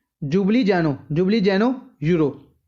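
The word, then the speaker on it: Ljubljana: capital याद रखनी है जुबली जानो जुबली जनो यूरो वैसे य नाम एल तो शुरू हो है पर एल साइलेंट विच ते की होगी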